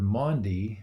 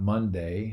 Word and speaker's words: Maundy: it Maundy Thursday and that word Mon D is not Monday I'm not mispronouncing anything